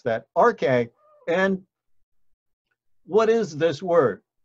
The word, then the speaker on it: arche: And so we pronounce that arche.